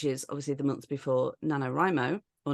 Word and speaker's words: NaNoWriMo: obviously the months before nanor rimo or nanoro how do you say it am I saying it I say nanor rimo say nanoro yeah okay so nanor rimo because that's how Ione